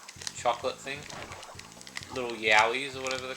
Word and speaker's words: Yowie: Little Yowis or whatever they're called. Spelled with a Y. Like Yayo. No, it's spelled Yahi. Like Yow. Like that kind of Y.